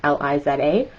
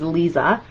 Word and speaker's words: Liza: is just lisa like l-i-z-a um and a lot of people would say that like usually it's pronounced liza but our the pronunciation that i've always given was lisa and uh i never